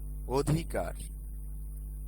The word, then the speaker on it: অধিকার: 4 নম্বরে দেখো, শব্দের আদিতে অ যদি স্বাধীনভাবে বা ব্যঞ্জনবর্ণে যুক্ত থাকে এবং তারপরে হ্রস্ব ই, দীর্ঘ ই, হ্রস্ব উ, দীর্ঘ উ থাকে, তবে সেই অ এর উচ্চারণ ওকারের মতো হয়। যেমন দেখো, অধিকার, অতীত।